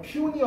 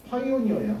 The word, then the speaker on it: pioneer: Pioneer, 발음 조심하세요. Pioneer 아닙니다. Pioneer야, 개척자.